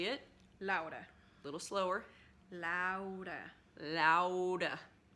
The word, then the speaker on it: Laura: I do know some people say it more like Laura. There's like a slightly, you almost say it like L-O-R-A, at least in English, and most people call you that, right?